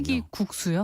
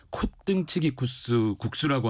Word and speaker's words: 콧등치기 국수: 콧등치기 국수라고 하는데 이름이 발음도 어렵고 네. 과연 뭘까 생각하실 수도 있는데요. 말 그대로 콧은 코를 말하고요. 콧등을 말하고요. 국수가 치나요? 이렇게? 예, 국수 면발이 친다라고 해서 콧등치기입니다.